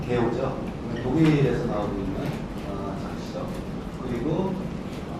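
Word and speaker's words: GEO: 그래도 20쪽짜리 포토 에세이인데 이게 당시 지호는 이제 패러는 했지만 지호는 사실은 이제 정확한 발음은 게오죠.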